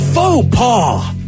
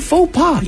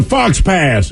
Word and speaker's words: faux pas: thing for me on that word is to spell it f-a-u-x-p-a-s exactly got it yeah that's a tough one that's the fox pass exactly it's pretentious because you spelled it wrong